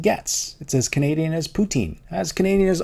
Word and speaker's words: poutine: It’s as Canadian as poutine. As Canadian as arguing about the fact that it's pronounce pou-tin.